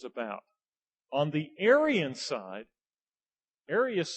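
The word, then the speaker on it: Arius: r i u s you'll hear it put as the aryan aryan controversy okay the Aryans all right so it's the same person it's just just how they say it Aras and Aryan all right there were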